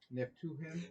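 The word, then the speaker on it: Naphtuhim: Nah, Nay, to him. Not Neph- to him. Neptuhim.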